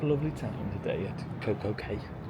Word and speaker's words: CocoCay: They call it Coco K here, but then Castaway Key is spelled the same way.